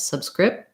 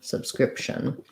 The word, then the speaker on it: subscription: But in subscription, I go to make the P with my lips, subscription. And then I release right into the TION ending, which is the SH sound and a schwa, or just SH and N directly. So it sounds like sub, script, with not much P, and then shun, subscription. Yeah, so that's a useful